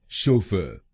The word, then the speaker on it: chauffeur: पहले शब्दांश को यानी CHAU हम बोलेंगे शो, शो, और दूसरे शब्दांश को यानी FFEUR हम बोलेंगे फ, फ। तो बनेगा शोफर, शोफर, शोफर, शोफर, शोफर, शोफर। और इस प्रोनाउंसिएशन में हम पहले शब्दांश पर यानी CHAU पर जोर डालेंगे।